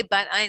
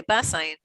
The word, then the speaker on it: Bat Ayin: us, it's funny because I say Bat Ayin because the name of the little cute little village is called Bat Ayin, but really because they Bas Ayin, either way how you pronounce it.